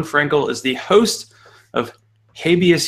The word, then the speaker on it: habeas: is the host of habeus humor or habeas humor if you do the British pronunciation this New Jersey based